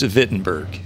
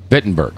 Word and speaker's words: Wittenberg: was Wittenberg castle it's fitten burg bitten Burke okay but i think it's written with w i think it is too I think so too pronounced with a V yeah it's what the